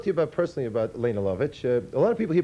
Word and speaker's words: Lovich: Let me talk to you personally about Lene Lovich. A lot of people here pronounce it Lena, by the way, but Lena is the proper pronunciation, eh?